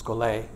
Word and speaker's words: schole: scol scol is a Greek word if you pronounce it scol instead of scol it doesn't matter but it's scol I'll probably do it both ways and it